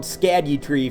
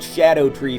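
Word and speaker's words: Scadutree: already there's something called scad tree fragments or some people say oh that's supposed to be pronounced Shadow tree fragments to which I retort not every letter can make every sound so no anyway you need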